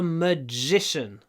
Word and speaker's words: magician: А если человек волшебник, можно сказать he is a magician. Magician. Уже ударение на втором слоге. Magic на первом, magician на втором. И поэтому дж наш становится длиннее. Magician. Больше ж. Magician.